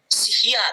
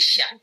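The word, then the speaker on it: しゃ: Kalau misalkan ada ya-nya, ya dibacanya ini kan shi. Kemudian ada ya, berarti ini bicara jadi sha. Biasa aja. Bukan sihia tapi sha.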